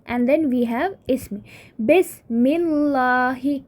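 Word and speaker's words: بسم الله: We have b and then we have ism, bismillahi. Right, ba, attachment of ba will result in dropping of this alif in pronunciation. Right, it becomes bismillah.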